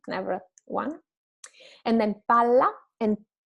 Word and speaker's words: palla: And then palla and pala. Pala, one L, palla, two L. Pala is the shovel, while palla is the ball.